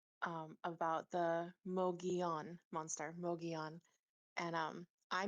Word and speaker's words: Mogollon: Mog on and um I mispronounced it through the whole thing, but we